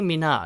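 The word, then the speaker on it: Nicki Minaj: 이름입니다 자 2분이 를 우리말로 어떻게 하죠 니키 미나즈 라고 하죠 니키 미나즈 니키 미나즈 가 그나마 제일 근접한 소리 어서 우리말로 이렇게 옮긴 건데요 자 니키 미나즈 같은 경우에는요 영어로 이렇게 바랍니다 니키 미나 아주 니키 미나 아슈라 고발합니다 일단 이름부터 보면요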